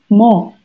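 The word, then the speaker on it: 뭐: itu sudah berubah menjadi mo tulisannya memang muo kayak gini Tapi bacanya mo mo ini sama ya jadi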